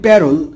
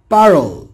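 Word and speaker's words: parole: আমরা বলি প্যারল কিন্তু উচ্চারণ হবে পারল।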